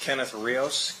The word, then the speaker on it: Kenneth Rios: And sir, if you please state your full name and then spell it for the record. Kenneth Rios.